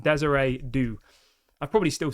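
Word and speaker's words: Désiré Doué: say it and embarrass myself, but apparently it's pronounced Desiree Doue.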